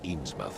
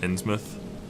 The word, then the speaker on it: Innsmouth: no one in this Eames mouths a written City will do a damn thing but yes let's talk about your dreams I'm pretty sure it's pronounced Innsmouth by the way you think